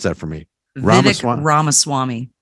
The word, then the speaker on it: Ramaswamy: side via Rama swamp swamp you have to pronounce that for me Rama Swami Rama Swami thank you you know new set of lips